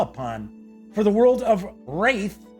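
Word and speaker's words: Wrathe: A successful hero will need a well-stocked inventory to draw upon, for the world of Wraith, I believe that's how it's pronounced, it's R-A-T-H-E, has much to be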